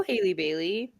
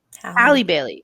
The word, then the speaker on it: Halle Bailey: Because part of me was like, yeah, go Haley Bailey. Haley Bailey, right? Yeah, Haley Bailey. Hallie? Halle Bailey. Sorry, it's spelled.